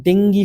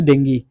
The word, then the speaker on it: ডেঙ্গি: পারেন তারপর হচ্ছে আর ডেঙ্গি ফিভার এটার উচ্চারণ কিন্তু ডেঙ্গি এটা ল্যাটিন ওয়ার্ড ঠিক আছে আমরা ডেঙ্গু বলি ডেঙ্গু ভুল না বাট ডেঙ্গি ফিভার এটা